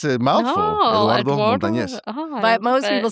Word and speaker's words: Eduardo Montañez: Eduardo Montañez.